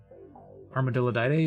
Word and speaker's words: Armadillidae: Armadillidae is the pronunciation.